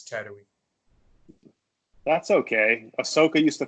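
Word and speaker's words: Tatooine: when i was younger i always called this planet tattoony tattootie it was i was exactly embarrassing age old when i realized it's tattooing that's okay ahsoka used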